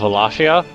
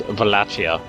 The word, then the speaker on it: Wallachia: I think it's the W's pronounced V of Wallachia. I think it's more like that. That's actually where Ivan the Terrible, Count Dracula, is from, is Wallachia down here.